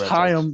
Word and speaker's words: Chaim: Yeah, with Chaim, bro. Just so you know. Whenever you hear the Jews say L'chaim, that's it. Okay. L'chaim. That's how you pronounce that.